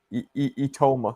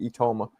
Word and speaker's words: Itauma: So, I just did a video about Moses uh Etoma. It's how you pronounce it. Etoma.